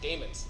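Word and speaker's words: daemons: you could set up how you pronounce that Damons thank you I thought that was right I have a friend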